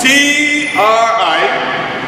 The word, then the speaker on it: Triduum: It is, the word is spelled T-R-I-D-U-U-M.